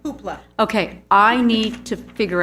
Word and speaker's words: Hoopla: I learned about Hoopa. Am I saying it right? Hoopla.